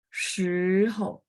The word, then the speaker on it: 时: Nah, sampingnya karena nada 5 pendek ringan, jadi 我们时候时 nada 2 ya, jadi naik gantung ke atas. Oke, nomor 3, 去今天星期，再来是几 nada 3 ya.